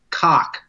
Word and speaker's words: Koch: Christopher, is it Koch or Coke or what? Do we know how he pronounces his last name? I've heard it so many different ways. I think the correct pronunciation is cock.